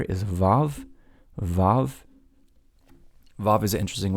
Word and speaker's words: Vav: Then we go to here, the sixth letter is Vav, Vav. Vav is an interesting letter because in Ashkenazic communities, Ashkenazic Jewish communities, it's pronounced like a V, V.